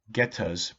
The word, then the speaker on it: geta: The Japanese call them getas, pronounced geta.